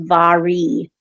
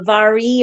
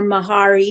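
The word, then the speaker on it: Mhairi: I was just looking up the name Mahari and apparently if this is meant to be the uh uh Scottish um Gaelic version, it's actually pronounced Vari. Um but uh it says uh Vari or Mahari depending on your um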